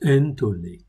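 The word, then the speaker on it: ἐντολή: Dans la Brit Hadasha, l'alliance renouvelée, ou nouvelle plutôt, le mot grec pour commandement est entolé, ce que je vous disais tout à l'heure, il se prononce entolé.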